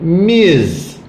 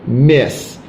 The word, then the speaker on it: Ms: subject ms white's brother don't forget miz it's very important you pronounce this correctly american women will get very angry if you say miss it's not miss it's miz so this is the